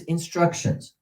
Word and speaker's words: instructions: The sample is instructions. How many syllables? 3. On which syllable is the accent? 2.